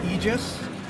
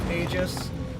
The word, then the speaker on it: Aegis: It seems like most people in the Star Citizen universe actually call them Aegis. You know, like, even if the word is officially pronounced Aegis, the company calls it Aegis.